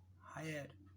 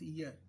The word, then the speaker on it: heir: हायर, हायर, तो इसे हम क्या बोलते हैं, this is नॉट हायर, this is ईयर, ईयर, हियर, हियर, right.